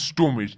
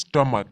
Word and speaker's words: stomach: نو که څه خلک داسې وایي چې سټومیچ، د دې سټومیچ نه د دې صحیح تلفظ د کوي، د دې صحیح تلفظ سټمک ده.